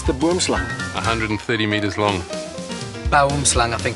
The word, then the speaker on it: boomslang: Boomslang, I think it's called, isn't it?